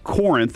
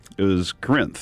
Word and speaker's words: Corinth: There's the sign, and I've read Corinth every morning until my father-in-law said he lived there, and it was Corinth. So that's the problem. You don't even pronounce the O.